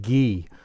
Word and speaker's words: ghee: sea bass because I've discovered you oh I'm liking that hmm yeah I'm gonna be eaten good all right that container it's pronounced ghee that's a game changer for me for cooking